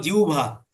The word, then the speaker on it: জিহ্বা: জিব্বা। জিহ্বা। এটার নাম কি? জিহ্বা। সঠিক উচ্চারণ হলো জিহ্বা।